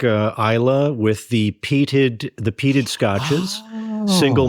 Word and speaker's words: Islay: Islay? Yeah, well, Isla. Isla. It looks like Islay, but it's pronounced Isla.